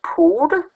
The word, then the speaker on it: potte: Potte læses pote. Okay. O får sin standardlyd. O skulle egentlig have haft en O-lyd i potte. Ikke? Man får en O-lyd og udtales pote. TT udtales som D.